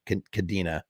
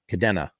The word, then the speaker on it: Cadena: ilk how do you how do you pronounce dez's last name is it kadena or cadenya kadena kadena dez i'll just call